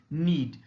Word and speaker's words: knead: And KNEAD, the pronunciation is need. Next is new, with spellings NEW and KNEW.